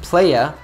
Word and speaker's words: players: Notice how Taylor pronounced these words, players, haters, heartbreaker, faker. She uses a very soft, subtle R sound, so they sound like playa, hata, heartbreaker, and faker.